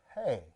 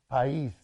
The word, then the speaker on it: País: which I really like, is Los Hijos del País. How do you say that? País.